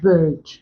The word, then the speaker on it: bird: For example, if you have bird, the sound here, the vowel sound here is produced by the IR. So we do not pronounce R in the word.